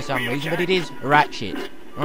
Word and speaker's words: Ratchet: __ ] for some reason but it is ratchet all right just my bad pronunciation let me off anyway will jerk and